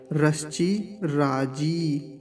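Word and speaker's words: तिरश्चिराजी: पर हसवी का है एक बार फिर से देखिए ठीक से ऐसे रची राजी जकार पर दीर्घ ई का है यहां फिर से देख लीजिए रची राजी इसको लंबा खींचना है इसको जल्दी बोलना है रच राजी अब पूरे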